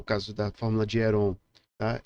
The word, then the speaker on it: Heron: caso da fórmula de Heron a Eu não me preocupo muito com as pronúncias Eu acredito que a pronúncia mais adequada para nós falantes de língua portuguesa seria é ROM Mas independente de que